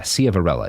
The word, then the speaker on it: Ciavarella: Yeah, Ciavarella is how it's pronounced, more or less.